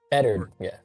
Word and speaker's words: Eddard: Cora, and I have never pronounced this name. Is it Eddard? Eddard, yeah. Eddard.